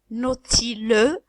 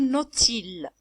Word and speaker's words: nautile: égal Nautil le Nautil on va pas prononcer et dire nautilux mais on dit Nautile Nautile alors celle-là c'est une